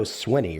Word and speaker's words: Swinney: it wrong it's Dabo Swinney Right double Sweeney yeah Dabo Sweeney okay it looks like you want to say sweaty but it's Sweeney we lose he loses